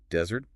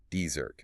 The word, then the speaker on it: desert: Notice the stress. Desert. Desert. The power is on the very first syllable. This is a trap because everyone wants to say desert, stressing the second half.